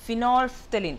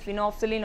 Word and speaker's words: phenolphthalein: It is phenolphthalein. So, even though we are pronouncing phenolphthalein, the spelling is little bit different.